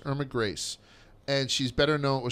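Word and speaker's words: Grese: Yeah, so he told me about this woman, her name is Irma Grace, G-R-E-S-E, but it's pronounced Grace, Irma Grace.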